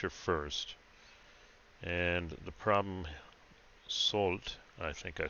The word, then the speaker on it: Soult: so the French are first and the problem salt I think I said it right one three